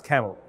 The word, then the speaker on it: CAEML: Electronics Through Machine Learning, which is mispronounced as CAEML, but not C-A-M-E-L, C-A-E-M-L.